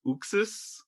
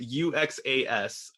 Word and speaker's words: Uxas: Darkseid's real name was Uxas, I believe is how you pronounce it. Uxas.